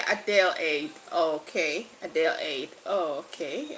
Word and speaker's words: Adelaide: Is it Adela? Okay, it says no. How do you pronounce it? A delayed. Is it a delayed king? Adele. Okay. Adele aid.